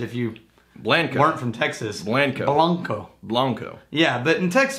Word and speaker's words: Blanco: Blanco. Blanco. Yeah, but in Texas we pronounce it Blanco because that's how we roll.